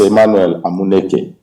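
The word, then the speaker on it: Emmanuel Amuneke: hear it from the legend himself how to pronounce your name well my name is Emmanuel nak it thank you so much for all those who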